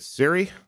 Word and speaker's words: Csere: how we pronounce it it's not the correct pronunciation but that's how we say it my family what's funny is I